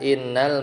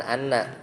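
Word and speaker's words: إنّ: Jadi lam ibtida itu bisa masuk ba'da innal maksurah, setelah inna yang dibacanya inna. Jadi hamzahnya kasroh bukan anna.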